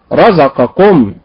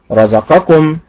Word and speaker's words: رزقكم: هذه لهجة، هذه لهجة خاصة، فلا ننطق هذه الكلمات في القرآن هكذا، وإنما ننطقها خلقكم بالنبر على حركة الخاء، رزقكم بالنبر على حركة الراء، يعظكم بالنبر على حركة الياء، وهكذا.